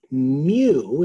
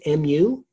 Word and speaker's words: mu: Well, if I have all of the data, all data, we're gonna call it mu, it's pronounced M-U, it's a Greek letter for small case m, for mean, but it's mu, and that is called the population mean.